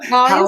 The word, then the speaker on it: Hoah: new but am I correct in say it's pronounced ho right it's pronounced HOA yeah okay right I